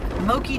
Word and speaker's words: Moqui: needed to get done mokey dugway Loki is spelled m-o-q-u-i um and you might